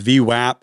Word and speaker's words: VWAP: v-wap it's super cool also it's pronounced v-wap if anyone says WAP they're just wrong and it's okay this